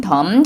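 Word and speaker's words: dumb: 그래서 예를 들면은 GHT 같은데 스펠링이 써있는 거에서 GH라던가 아니면은 MB로 끝나는 경우 덤 같은 경우는 그 마지막 B 발음을 안 한다는 거.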